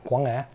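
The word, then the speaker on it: Quảng Ngãi: It's very specific to the province that I'm from, Guangai. Wow. Yeah, Guang'e. That's a pronunciation.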